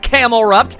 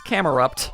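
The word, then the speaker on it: Camerupt: this point because apparently his name isn't Camelupt. It's It's Camearupt. There's There is no L.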